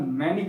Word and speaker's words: Mannich: अगली रिएक्शन आ रही है, उसका नाम है मैनिक रिएक्शन। क्या मानिक रिएक्शन कहते हैं, मैनिक रिएक्शन कहते हैं। केमिस्ट्री का प्रोनाउंसिएशन तुम जो बोलोगे प्रैक्टिस करते हैं, बस हमें पता होना चाहिए कि है क्या हो, ठीक है।